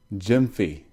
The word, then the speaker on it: Gyamfi: good to talk to you so tell me pronounce your last name for me so I get this right Jim fiy great awesome I want to make sure I say it right Jim fee I'd love to hear your story but let